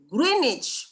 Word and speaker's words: Greenwich: GMT itu Pak ya, bacanya Greenwich, W-nya hilang.